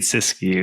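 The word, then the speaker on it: Siskiyou: Michael uh Miles Sysu Cascade Sysu National Monument. Cascade Sysu.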